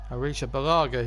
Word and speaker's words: Arrizabalaga: Arisha Balaga is the pronunciation, I've just remembered.